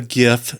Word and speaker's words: GIF: It's an acronym. The first word is graphic. We don't say jaffic. It's stupid. Graphic. Yeah, it's GIF. Yeah, but the creator of the GIF said that it's pronounced GIF.